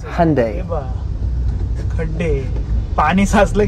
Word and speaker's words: Hyundai: No, it's pronounced Hyundai.